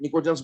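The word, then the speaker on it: pnictogens: P silent है, निकोजेंस बोला जाता है।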